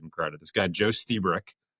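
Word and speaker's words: Lstiburek: This guy Joe Stebrick. It's spelled Lustbrick. L T I B- U R E K, but he pronounces it Stebrick.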